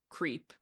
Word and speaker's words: CREEP: to reelect the president which the acronym is creep that's how it's pronounced that's how they say that's what they